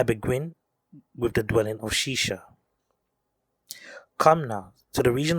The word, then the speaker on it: Shishak: year of king rehoboam shishak king of egypt came up against jerusalem because they had transgressed against the lord this bible verse does not actually say shishak it says shisha if we look at